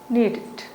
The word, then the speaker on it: needed: Wanted, and we say needed, needed.